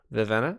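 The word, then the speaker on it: Vivenna: easiest one this one has got to be vivena okay vivena you are correct and paul would you like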